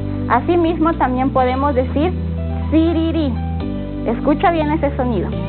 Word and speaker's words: siriri: Sur vamos a decir sururu y rojo siriri. Asimismo también podemos decir siriri. Escucha bien ese sonido. Y huichimal, escuchemos. Siriri.